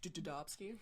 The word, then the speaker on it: Dobski: Dobski. That's actually how you pronounce my name.